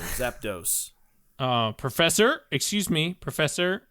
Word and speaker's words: Zapdos: on Tuesdays oh okay um it's zap do Mr Curtis not zapto zap toast like breakfast and toast not that either not that either Zapdos uh Professor excuse me